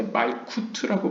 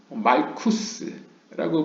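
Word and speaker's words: מלכות: 예를 들어서 말쿠트도 우리 한국에서 이제 말쿠트라고 발음하지 않습니까? 트 소리로. 근데 이제 아슈케나즘 같은 경우에는 말쿠스라고 발음할 수 있는 거죠.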